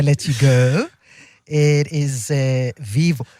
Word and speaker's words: Vivo: It is Vivo. Even though it's spelled Vivo, it's Vibo.